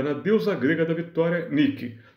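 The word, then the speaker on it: Nike: deusa grega da Vitória Nick Essa é pronúncia em grego Nick depois aquela marca de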